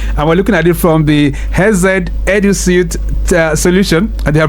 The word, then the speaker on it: Hesed: How does he said, no, it's HESED actually, it's pronounced it.